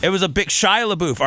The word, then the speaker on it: Shia LaBeouf: So, Shia LaBeouf. It was a big Shia LaBeouf.